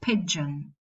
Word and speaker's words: pigeon: Or pigeon, you won't make the nasal syllabic.